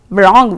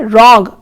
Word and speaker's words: wrong: And even in the word wrong children, we do not pronounce wrong, we say wrong, where W is not pronounced.